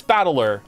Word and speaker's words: Battler: of characters for fight and person and it's pronounced battler oh so it is battler okay Pokemon name put it all together and